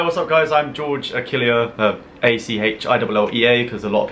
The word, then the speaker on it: Achillea: I'm George Achillea, A-C-H-I-L-L-E-A, because a lot of people struggle to pronounce my name.